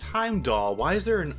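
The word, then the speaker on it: Heimdallr: hind dog now arriving on platform to this pronounced Heimdall why is there an R why do I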